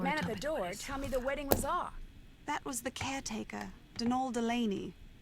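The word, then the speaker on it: Dónal: that was the caretaker dnal Delaney not Donald mind you there's no D at the end so it's pronounced dnal that's the way you're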